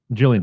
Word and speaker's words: Gillian: yeah Gillian take it Gillian Jacobs I don't know if she's the soft she or I mean when I look at her I'm a hard G I said that for